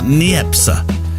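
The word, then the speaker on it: Niépce: Joseph n a for neepa neepa you have to have a slight uh on the end apparently it's about how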